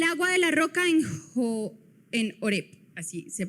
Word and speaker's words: Horeb: El agua de la roca en Horeb, así se pronuncia.